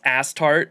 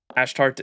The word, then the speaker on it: Astarte: stream from the room it's pronounced ass tart but ashtart is also a valid translation I prefer astarte ask tarte good morning